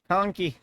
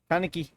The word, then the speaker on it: Kaneki: How did you just pronounce that? Kunki. Kaneki. There you go.